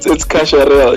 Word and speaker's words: Kasharel: Who is it? Is it Chacharel or Kakarel? Kacharel. I can't pronounce the featured artist name. Yeah, no, it's Kasharel, yeah.